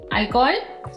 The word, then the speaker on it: alcohol: Si pronunciaste hola, huevo, hermano, alcohol. Bueno, felicitaciones, todo bien. La H en español no tiene un sonido, es muda.